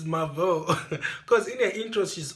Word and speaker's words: Mavo: It's Mavo. Because in her intro, she's always saying, "Welcome to my channel. It's a girl, Mavo. Not Mavo. Not Mavio. Definitely not Captain Marvel."